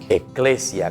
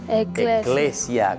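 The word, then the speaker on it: ekklesia: En una palabra un poco difícil, porque es una palabra griega. Se dice eclesia. ¿Cómo se dice, John? Eclesia.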